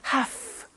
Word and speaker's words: have to: pronunciation I have to notice I don't say V I say F have half it becomes have to have to becomes in